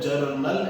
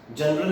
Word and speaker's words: journal: Recording दो तरीके से होती है, आइदर जर्नल एंट्रीज या स्पेशल पर्पस बुक्स। जनरल नहीं बोल रहा हूँ बेटा, जर्नल बोल रहा हूँ, JOURNAL, जर्नल एंट्रीज।